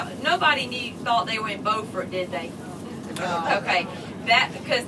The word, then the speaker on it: Beaufort: thought they were in Beaufort did they okay that because that other Carolina has a faux fur and it's spelled the same way yeah and we're named